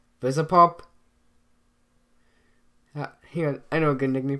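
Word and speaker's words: Vivziepop: Daniel, how do you pronounce her name? Vizipop.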